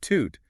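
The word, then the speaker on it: tute: Okay, so the word toot stressing the first syllable means person.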